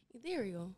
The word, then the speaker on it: Ethereal: Ethereal. It's easy. Ethereal. Yeah. Rhyme with cereal.